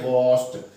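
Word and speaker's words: washed: इत्थे भी तुसीं प्रोनाउंसिएशन का ध्यान रखना है, वॉश्ड वॉश्ड ड साउंड नहीं होंदी। ठीक है, ड दी बजाय ट वर्गी साउंड आपां ने जो है प्रोड्यूस करनी होंदी है, तां इसका उच्चारण सही होगा।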